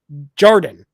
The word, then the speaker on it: Jordan: for next week yeah so Jordan not jarden I kept say misspelling it's pronouncing your name Jordan I kept saying Jan for some reason um Jordan says if